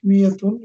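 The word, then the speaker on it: مائة: The alif of miyatun is not pronounced, it is also written as miyatun.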